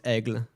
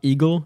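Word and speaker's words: Aigle: you want uh the the most common one i guess for now is egg it's not eagle it's not agile it's egg please call it egg uh okay that that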